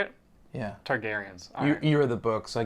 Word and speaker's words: Targaryens: prequel yeah it's about the targetings targaryens that's how you say it yeah targaryens you're the book so